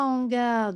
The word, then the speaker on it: hangars: Donc vous savez maintenant qu'on ne fait pas la liaison. Ce qui donne les 23 hangars de la zone industrielle sont fermés.